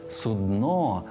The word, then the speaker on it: судно: І посудина для лежачих хворих, і корабель все одно судно з наголосом на о.